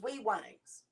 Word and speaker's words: Wangs: It's Wangs. Wangs. That's how it's pronounced.